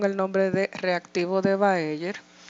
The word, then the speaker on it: Baeyer: Se escribe Bayer, pero se dice Baeyer.